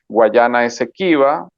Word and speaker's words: Guayana Esequiba: Yeah, wrong, in Spanish and in the Venezuelan tradition, we call this region Guayana Esequiba, and the Guyanese people